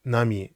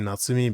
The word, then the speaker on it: Nami: Nana she's called Nana Nami Nami that's how she's pronounced I I've been saying natsumi because that's how you that's how you would you would normally read this kji but it's actually read as NAMI so yeah you have